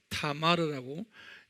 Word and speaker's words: 타마르: 압살롬 스펠링은 ABSALOM 그래요. ABSALOM. 그 다음에 또 아들 하나가 타마르라고, TAMAR, 타마르라고.